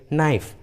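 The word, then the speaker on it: knife: के पहले होता है, तब के साइलेंट होता है, के का उच्चारण नहीं करते, जैसे नाइफ, नी, नो, नॉलेज, नॉक। देखिए सभी इंग्लिश वर्ड्स में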